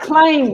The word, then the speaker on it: climb: give me other examples craig of climbing i'd climb without the being the bee is silent silent be careful with the pronunciation yeah